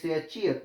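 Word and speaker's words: 치읓: The sound is umka, is called as chi, pronounced as chi for initial consonant, chi for middle consonant, and pronounced as t for final consonant or pachim.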